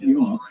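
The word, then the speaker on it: Gjøa: But the ship, from my research, is pronounced Yoa by the Norwegians.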